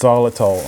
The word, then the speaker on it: Xylitol: normally but look what I've got here Xylitol pronounced Xylitol I've got it in a plastic bag because